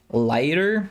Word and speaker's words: Laigter: It's called Lighter, and it's spelled really funny because it's LAIGTER.